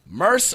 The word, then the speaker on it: Murs: I know we say this like every single time, but I want to, for the record, Murs or Murs? Like a purse, but with an M.